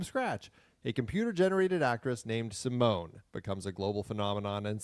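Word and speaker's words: S1m0ne: All right, let's do our I've never pronounced it that way. Sim one. It's always Sim one. It's Simone. It's like the actress's name.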